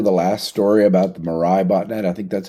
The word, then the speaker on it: Mirai: So I'm going to skip over the last story about the Mirai botnet. I think that's how you pronounce it.